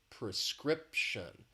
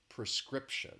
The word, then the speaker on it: prescription: very quickly is just the pronunciation has three syllables the stress is on that second syllable prescription prescription so again you want